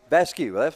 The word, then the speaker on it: Vasquez: And Vasco, her dad told me how to pronounce that, and now it's escaped me. I believe it's Alyssa Vasquez. Vasquez. Well, I was right.